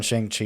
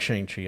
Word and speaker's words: Shang-Chi: Yeah, in Shang-Chi, he was fighting Wong.